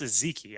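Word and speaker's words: Ezeike: It's pronounced Ezeki. I'm assuming it's Michael Ezeki out of UCLA that they ended up selecting.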